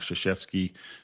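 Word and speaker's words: Krzyzewski: There's a great coach in uh in basketball and US colleges, Mike Shasheesky. Don't try to spell that name uh and think it's going to be Shasheeski because it starts with a K.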